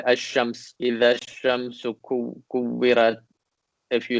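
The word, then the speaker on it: الشمس: For example, when there's alif and lam and it's the shamsi word, you just ignore the lam is written, but you just ignore it when you pronounce it.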